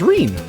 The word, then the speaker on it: Reen: My name's Reen, rhymes with clean, but I feel more like Cleanan's McClocks right now.